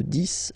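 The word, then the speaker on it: dix: De 10 à 20, okay, so let's start now. 10, okay, so remember, final X here is pronounced like S, 10, 10, okay?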